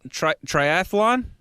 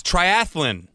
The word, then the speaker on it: triathlon: that LASIK you got Triathlon nope it's triathlon there's no ass Alon because people know it